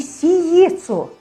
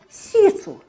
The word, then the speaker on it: сецу: Не сиецу. Сецу.